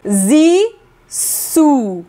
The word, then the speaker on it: Zissou: Como pronunciar Zizou? Vamos lá, repete com a gente. Zissu.